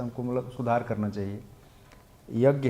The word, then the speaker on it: यज्ञ: यज्ञ है यज्ञ, प्रभुपाद जी ने अंग्रेजी में यज्ञ को अंत में यन लगा दिया है, तो फोनेटिक्स में ऐसा होता है, लेकिन वह उच्चारण करने योग्य नहीं होता है, समझे, साइलेंट है उसमें।